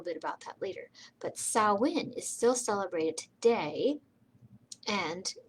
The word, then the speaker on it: Samhain: it saoin it looks like samhain but it's pronounced saoin and the tradition of halloween started in ireland thousands and thousands of years ago and we'll talk a little bit about that later but sauwin is still celebrated today and before it was